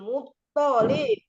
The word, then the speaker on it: Muttalib: Wa hadza jadduhu Abdul Muttalib. Muttalib gitu. To-nya tidak panjang.